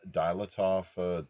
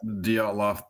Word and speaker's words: Dyatlov: so second only to the you pronounce that Dilatov mountain incident out of Russia, essentially. Yeah. Dyatlov Pass incident is equally disturbing in that the wound suffered from those people were paranormal.